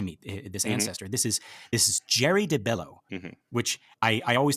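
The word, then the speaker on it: Geri: This is Jerry de Bello, which I always thought it was Gary, but everyone that I'm listening to is pronouncing it Jerry, which I really like.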